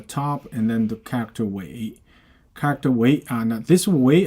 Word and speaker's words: 苇: You pronounce it how. So next one, wei.